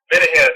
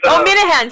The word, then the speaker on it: Minehan: Minahan. He's, Minahan. See, I always say his name wrong.